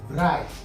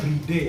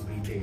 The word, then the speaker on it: Bride: merek di Jepang yaitu Bright. Sebenarnya bacanya bre ya, cuman ya karena bright kan artinya mengantri jadi lebih gampang nyebutnya bahasa Inggrisnya. Tapi kita akan sebut dengan pelafalan benar yaitu breay ya.